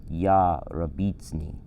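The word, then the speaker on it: יַרְבִּיצֵנִי: But to slow it down and simplify it, it's ya rabitzni.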